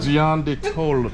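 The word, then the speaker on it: Gianduiotto: John Diotto, please. Yeah, I'll take a chocolate cone. Now and it depends with your accent. let me see that again. You know your country. Gian de Tolo.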